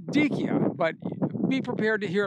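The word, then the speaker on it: Dyckia: language and it turns out the way it's pronounced is dikia so now we're saying dikio but be prepared to hear it pronounced other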